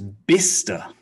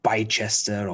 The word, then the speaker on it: Bicester: for the source and this one is bista very confusing looks like bychester or bicester no bista okay round two